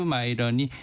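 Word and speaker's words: Miran: 설계자라고 알려진 미란. 이제 미국 사람들이 마이런이라고 발음을 마이런. 하더라고요. 네. 우리는 미란. 네. 이 네. 스티브 마이런이 이제 벌써 9월달.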